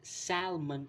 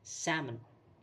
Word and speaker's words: salmon: used to call it salmon itself with the spelling but the L in between is silent it's pronounced as salmon again salmon then the